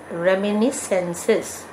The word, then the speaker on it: reminiscences: Pronunciation is reminiscences, where the letter S is silent.